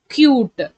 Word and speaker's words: cute: If I add e at the end, the total pronunciation and the meaning changes. How we have to read is k, u. You have to say the letter name u, t, cute.